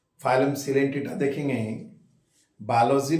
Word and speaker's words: Coelenterata: repeat करेंगे तो phylum सिल टेटा हम लोग देख रहे हैं फाइलम सिंटेट इन फैक्ट लिखते हैं हम कलें टेरेट ओ साइलेंट है पढ़ते हैं सिलेंट इस फाइलम का दूसरा